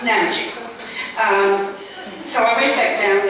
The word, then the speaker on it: Namadgi: And by the way, the pronunciation is Namadgi, not Namadgi. Namadgi is an Aboriginal word, and the Europeans have changed the emphasis on the syllables and they call it Namadgi, so it's Namadgi.